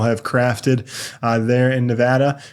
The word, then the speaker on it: Nevada: of the first things I had to heart trade myself on was it's Nevada, you dummy. Yeah. Right. It's Nevada.